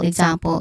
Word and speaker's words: example: Example, ig, and then zum is the stressed syllable, then pull.